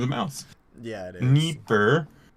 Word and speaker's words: Dnieper: Dnieper, but we pronounce it Dnieper.